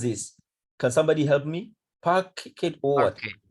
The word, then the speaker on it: parquet: How do we pronounce this? Can somebody help me? Packet or what? Parquet.